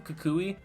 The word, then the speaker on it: Kukui: Is it Kukui? Is that how you say his name? Kukui?